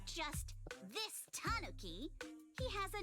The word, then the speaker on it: tanuki: Miss, based on what you just said, may I assume that you're the owner of this tanuki? It's pronounced tanuki.